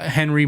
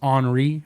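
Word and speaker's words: Henri: end it's his famous painter famous painter uh Henry Matisse actually it's pronounced honoree because he speaks French but uh so Matisse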